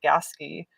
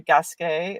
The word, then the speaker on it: Gasquet: to us is called gaski um but that's how the locals pronounce it but it's really gasquet it's french so there were these